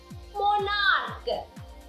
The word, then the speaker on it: monarch: In the same way, monarch. CH. But the plural here doesn't take ES, takes only S. Monarchs. Why? Because the ending CH here doesn't pronounce CH, instead it pronounced K.